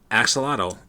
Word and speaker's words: axolotl: How do you pronounce that? It's an amphibian. The axolotl, I guess, is how you would pronounce it.